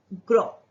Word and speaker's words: gros: जैसे कि ये एग्जाम्पल है ग्रो. GROS, ग्रो. S pronounce नहीं होगा, पर ये जो एस